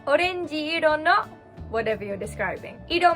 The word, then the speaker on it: orenji: so how do you say orange in japanese orenji orenji so this is a frisbee on my head in this case you wouldn't say orenji e to describe a word you would say orenjiro no whatever you're describing idol means color in